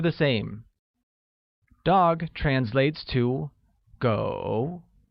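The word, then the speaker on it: 狗: same dog translates to go which is pronounced with a falling rising tone once again it's go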